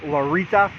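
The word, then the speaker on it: Larryta: I took the, it's called Larry Ta. I believe it's pronounced Larita, but it's spelled like Larry, T-A, all one word.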